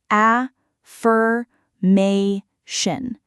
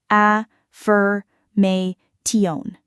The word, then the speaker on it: affirmation: The stress sits on the ma syllable, affirmation, not affirmation.